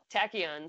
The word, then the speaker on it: Tachyon: cuz I had to ask Tyler how to pronounce it is Tachyon so ta CH y OU n so blow